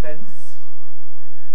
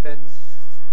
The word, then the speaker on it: fence: In order to get the older pronunciation fence, what must happen first? The first thing must be the tongue tip. It must release its contact, and you get a moment of nasalized S, fence.